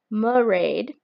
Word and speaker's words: Mairead: Then there is Maraid. That's the pronunciation I'm going with.